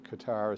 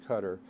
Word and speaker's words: Qatar: important Source uh is some people pronounce it Qatar some people pronounce it cutter uh I've actually heard